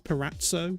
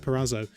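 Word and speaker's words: Parazzo: and obviously jeff perazzo i always thought it's paratzo but he pronounced it pirazzo um he he actually sort of went out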